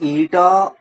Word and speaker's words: eta: Viscosity symbol is eta. It is pronounced as ETA antamma.